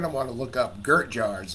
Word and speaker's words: Gert Jaars: want to look up Gert Jars. That's capital GERT JAA. So that's JAARS. Okay, so let me spell it again. Capital GERT JAARS. Like Aaron.